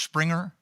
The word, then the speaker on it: Springer: Is it pronounced Springer? Yes, it is. In German.